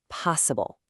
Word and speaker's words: possible: And this last one is three syllables with the stress right at the very front. Possible.